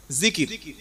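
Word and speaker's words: ذكر: উপরে বিষয়টা হচ্ছে আল্লাহর জিকির কি নাম বললাম জিকির জাল কাফ র তিনটি অক্ষরে একটা শব্দ জিকির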